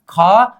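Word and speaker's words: 구: हमें क्या करना पड़ेगा ख। ख प्लस ऊ इक्वल टू क्या होनी चाहिए खु। क्या खु। इसका उच्चारण क्या होगा अब खु।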